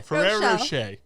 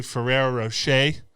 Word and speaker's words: Ferrero Rocher: It's spelled Rocher. But they don't pronounce the R. So my point's still valid. One of the Google questions is, what is the Ferrero Rocher target audience?